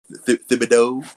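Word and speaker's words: Thibodeaux: Thibodeau is how you pronounce it.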